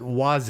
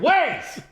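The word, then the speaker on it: Waze: W Oh, so you know how to pronounce it because people your age tend to pronounce it Waz or Wise. Wise. Yeah, it's French. It's freaking ways.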